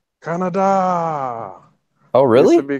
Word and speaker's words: Kaneda: What burned into my memory is like the original dub of them yelling, Tetsuo, Kaneda, and they don't say it like that anymore. I think it's like Canada.